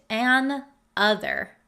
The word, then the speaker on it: another: It becomes one word, another, another. And even the pronunciation is a little bit different than if you were to write an other, and another. Can you hear the difference in pronunciation and how you would read the word? An other is broken up, an other. Another, another. You can hear the difference in pronunciation, I hope.